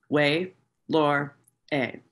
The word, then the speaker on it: Ouelhore: this written on it: W-A-Y dash L-O-R-E dash E-H. Her name, phonetically, Way Lore A.